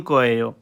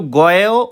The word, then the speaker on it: 거: আর এটা কিন্তু গয়েও উচ্চারণ হবে না, কয়ে উচ্চারণ হবে, মানে ক দিয়ে উচ্চারণ হবে। ঠিক আছে, কয়েও, এই যে এটা যদি গ দিয়ে উচ্চারণ করেন তাহলে ভুল। কোরিয়ানরা এটাকে কয়ে উচ্চারণ করে থাকে।